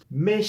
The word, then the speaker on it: mes: Mes chers parents. Me, posesivo, me. Cher. Ese me es un sonido E cerrado. Me, saben que la S no se pronuncia.